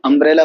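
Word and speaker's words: umbrella: यहाँ अम्ब्रेला को यू अ बोल रहे हैं, अम्ब्रेला, इसलिए अम्ब्रेला कौन सा साउंड है, वोवल साउंड है, इसलिए यू के साथ एन का यूज हो रहा है।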